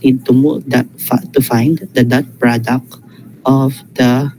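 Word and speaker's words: phi: the Greek letter F PH I okay not pi not p okay fi I you the spelling ishi but again um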